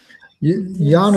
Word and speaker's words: Jana: Jana is actually how we pronounce her name. Uh it's just it's European so they pronounce it with a Y rather than a J.